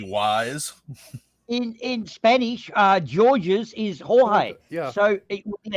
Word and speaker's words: Jorge: Jorge Lorenzo is George's. Jorge is George's, I guess. That might It's be Jorges. Yeah. But the G can also be H or it can be a hard G.